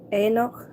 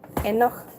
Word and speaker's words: Enoch: It's pronounced Enoch. Okay, thank you for the correction. I appreciate that. Enoch.